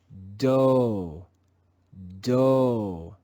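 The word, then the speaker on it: dough: silent in this word we again see the digraph gh but here the digraph is silent let's read this word together with the letter g silent do do the third sound of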